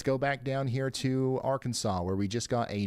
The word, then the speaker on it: Arkansas: Ryan, it's pronounced Arkansas.